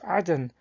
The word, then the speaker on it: Eden: example in Quran 988 the term Eden is pronounced as Aden in the Arabic According to Islamic escot